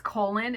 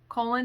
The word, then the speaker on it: Colon: in a small town i want to say it's colon it's spelled like colon c-o-l-o-n colon nebraska is a tiny enclave